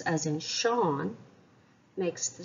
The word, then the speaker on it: Sean: Sean lahen no quail is the s in Sean broad or Slender well it's followed by an e and the broad vowels the Slender vowels Quail or E and I so the S and Sean is Slender or quail so the pronunciation of